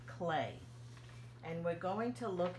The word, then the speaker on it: Klee: whose name is Paul clay let me show you here that's how you spell his name and it looks like Klee doesn't it but it's pronounced like clay and we're going to